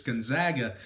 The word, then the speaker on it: Gonzaga: per contest now Gonzaga I I've been saying it wrong the whole time I think it's Gonzaga uh they failed to cover